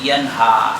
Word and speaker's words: ينهى: Makanya ada istilah sifat istifal. Apa itu istifal? Ya suaranya dia mustafil. Mustafil itu dia apa? Tidak ke atas. Kalau baca ha kemana itu? Ha. Walaupun suaranya rendah, tetap dia ke atas.